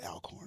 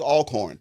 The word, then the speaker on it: Alcorn: They did at the with um I think they were playing Alcorn or is it Alorn? I I never know how to say it. It was Alcorn.